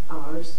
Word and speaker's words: Ours: Sarah Thompson moved out of the area, and so we're glad to have Julia Ours. Am I saying it right? But that's okay. Like horse without the H.